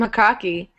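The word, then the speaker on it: jocoque: What's it called? Hokaki? Yeah, hokaki. I will post a link for you to see. How do you spell it? I'll Google it. Okay, J-O-C-O-Q-U-E.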